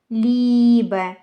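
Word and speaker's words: Liebe: Є ще букосполучення навпаки і е, яке означає, що потрібно читати довго звук і, тобто читається як довге і в словах, наприклад, тір, лібе, зібн.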